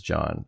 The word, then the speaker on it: Jhong: By the way, Jhong pronounced as John.